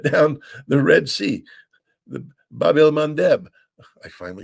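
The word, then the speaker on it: Bab el-Mandeb: I mean, the Houthi have shut down the Red Sea, the Bab el Mandeb.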